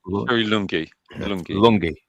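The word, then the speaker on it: Lunghi: Sherry Lunie, if I'm pronouncing that right. Lungy.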